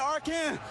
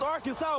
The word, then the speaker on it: Arkansas: I got that wood, and that's how you pronounce it. Ain't Arkansas, it's Arkansas, baby.